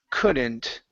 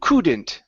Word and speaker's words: couldn't: here it's the word couldn't uh right here okay on this word you said c Kant pronouncing an oo sound instead of Kant it's c c couldn't okay that's pretty